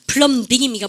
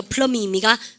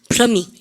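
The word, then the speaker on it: plumbing: 백왕궁 1도 염담이가 삥삥삥삥삥 염담이가 플럼빙입니까? 플러밍입니까? 플러밍 아시죠?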